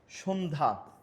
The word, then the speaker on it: সন্ধ্যা: সঙ্গে আমার জফলা যুক্ত হয় সেক্ষেত্রে সেটি কি উচ্চারণ থাকে না যেমন সন্ধ্যা জফলা এখানে দেখো জফল উচ্চারণ নাই স্বাস্থ্য জফল